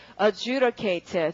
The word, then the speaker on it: adjudicate: 그 20-4를 보시면 발음은 adjudicate, 주에 강사 넣고요.